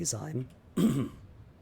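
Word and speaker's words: Zeim: But when it comes to the EIs or IEs, you pronounce the second one, right? So Z-E-I-M would be Zyme.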